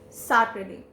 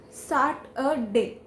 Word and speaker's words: Saturday: wrong way but yes some of the people i have heard around me speaking it as saturday or saturday that's wrong it is start a day start a day so